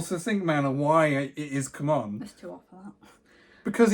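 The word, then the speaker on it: CMON: that what is it is it pronounced come on or Simon they say Simon I call it come on because c-m-o-n come on obviously it's come on you're never gonna change my mind on that it always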